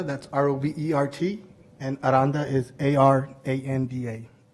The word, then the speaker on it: Aranda: My name is Robert Aranda, that's R-O-B-E-R-T, and Aranda is A-R-A-N-D-A. Now pronounce the R, right? Aranda.